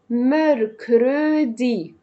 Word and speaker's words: mercredi: لن زي سن، ماردي اللي منطقة بكتبه ميركرودي ميركرودي.